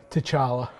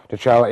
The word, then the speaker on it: T'Challa: I cannot pronounce that first name. Help me out. T'Challa. T'Challa, and how is he involved in this universe, in the Marvel universe?